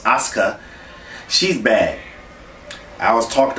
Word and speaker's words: Asuka: the screen it looks like Asuka but it's pronounced Asuka she's bad I was talk I touched on